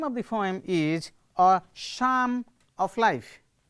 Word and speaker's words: Psalm: not an english word the word start with p but p is not pronounced p is not pronounced